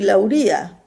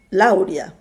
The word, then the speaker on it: Lauria: esisteva un ruggero di lauria io pronunciavo di laurea che altro non era